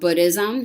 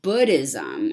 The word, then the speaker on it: Buddhism: So the book also talks about Buddhism. So this religion is pronounced Buddhism, and it's the Buddha, not Buddha in Buddhism. So it's like the vowel sound in the word good, not in the word food.